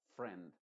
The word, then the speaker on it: friend: la combinación i e la i es muda y la e se pronuncia con su sonido modificado porque te mencionaba que